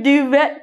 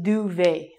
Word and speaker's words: duvet: I got a new duvet cover. It's got some W's on it. It's actually very important that you say this properly and you say duvet. So it's like duvet.